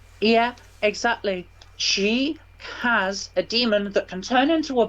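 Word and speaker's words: dæmon: evil in his world so clearly it means it's pronounced like demon yeah otherwise he would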